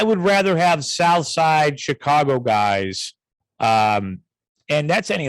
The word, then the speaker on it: Chicago: in a big city so chicago c-h-i-c-a-w-g-o and i uh he was